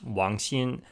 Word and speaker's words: Wang Xin: So here it is on screen, and that is pronounced Wang Xin.